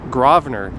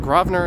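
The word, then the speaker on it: Grosvenor: it in my mouth and chew here is gravener street i have it on good authority that it is pronounced gravener g-r-a-w the n-e-r some people have disputed my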